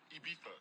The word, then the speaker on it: Ibiza: Ibiza. Yeah, it's pronounced Ibiza, actually. What's the difference, man?